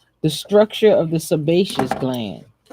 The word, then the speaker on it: sebaceous: the structure of the sebaceous gland sebaceous is s e ba SI e o us glam the sebaceous gland